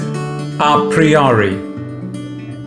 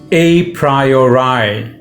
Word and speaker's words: a priori: today's latin phrase is a priyari it is also pronounced a priori british pronunciation it literally means from